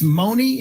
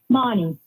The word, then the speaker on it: Monty: Uh, I think it's Mooney in Colombia, Maryland joining us. Is it correctly pronounced Mooney, your name? Monty. Monty.